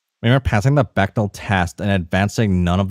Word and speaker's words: Bechdel: We were passing the vegetal. Oh whoa! I can't read. Pronunciation. Bechtel. Okay, thank you, internet. We were passing the Bechdel test and advancing none of the plot.